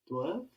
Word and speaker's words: doivent: And I mentioned how this E-N-T we add for they is inaudible. We don't hear it.